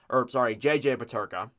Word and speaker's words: Peterka: JJ Peterka, that's how you say it.